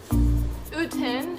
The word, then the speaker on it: Oten: Oten is the right pronunciation.